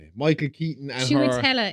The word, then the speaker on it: Chiwetel: Chiwetel is how you pronounce the other name.